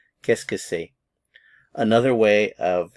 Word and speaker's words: qu'est-ce que c'est: So a lot of these words run together when you actually pronounce them.